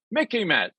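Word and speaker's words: MICIMATT: Urban Dictionary has a Mickey mat and it spells it out the military industrial Congressional intelligence media Academia Think Tank complex Mickey Matt sort of rhymes with Mickey Mouse remember it okay why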